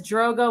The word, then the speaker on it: Drogo: love it pod says Drogo was Frodo's father rhymes with Roto almost PO is storage